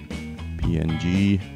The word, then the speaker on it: PNG: just say download and recommend the ping which I recommend to PNG or you pronounce it PNG and this is a